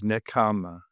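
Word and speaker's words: nekkhamma: Um, the word the buddy used for pronunciation is necama.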